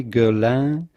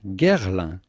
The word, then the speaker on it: Guerlain: chloe and follows guerlain it is a little bit of a tricky one you could say girl but if you can say girl girl typical french pronunciation gerla then comes love love